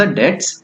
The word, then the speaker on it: debts: Next आपसे पूछा है reckless young man was dash for द डेट्स incurred by हिम। इसमें DEBTS तो होता है, मगर इसको प्रोनाउंस कैसे करा जाता है, डेट्स से, मतलब बी साइलेंट होता है।